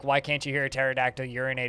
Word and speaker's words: pterodactyl: can't you hear a pterodactyl urinate it's because the p is silent the groans are still